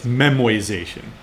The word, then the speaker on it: memoization: memoization that it's not it's not me mispronouncing it or having a stroke it's not memorization it's memoization right memoization is where you